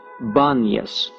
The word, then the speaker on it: Banyas: The inability of most Arabs to pronounce the P is the reason the place of Pan is called Banyas.